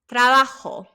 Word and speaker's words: trabajo: Trabajo. Remember that J, we learned that sound makes an H sound.